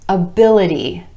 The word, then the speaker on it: ability: Able becomes ability, ability. Our stress shifts to that I vowel sound in the syllable right before the suffix, ability.